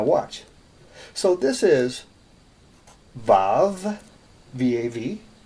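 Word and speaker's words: וָו: so this is Bob Vav some people spell it VA you but there's no you it's valve okay it is the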